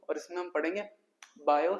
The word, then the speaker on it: Biot: है lecture number two और इसमें हम पढ़ेंगे बायो सेवट ल इसमें टी साइलेंट होता है दो साइंटिस्ट है बायो और